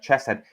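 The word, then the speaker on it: חסד: The the H with a dot is pronounced like a ch sound. So that would be like chesset.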